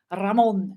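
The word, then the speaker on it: Ramón: yes he mentioned the Ramon and I said Ramon in Spanish because that's how it is pronounced but it's Raymond I guess in English let's keep it Ramon keep it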